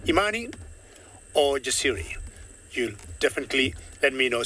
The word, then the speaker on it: Jasiri: So the faith in her to survive and the courage, or how courageous she is, and we say that Jasiri.